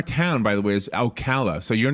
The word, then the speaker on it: Oikawa: called into the storm of international politics Yuki Okawa I I was saying his name wrong earlier uh is the author and the